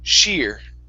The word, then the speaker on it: sheer: last one is sheer give me a good sh sound here instead of SE it's sh sheer she okay nice job nice